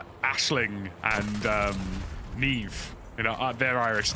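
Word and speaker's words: Niamh: like Aisling and Neve. You know, they're Irish names. And people just don't know how to pronounce them. People call them Nyam. Nyam. Like, bro, no.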